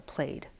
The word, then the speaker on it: plaid: it's a call to played and that's that's the Scottish pronunciation for that thing and what you wear